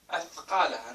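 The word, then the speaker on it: أثقالها: They're like taking the tha and making it da.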